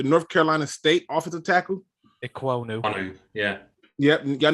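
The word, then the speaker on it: Ekwonu: So I'm going, how you pronounce his name again? Equal what? How you say it? Ikwonu.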